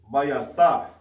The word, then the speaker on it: Bayatha: So home, how you pronounce it is Bayatha.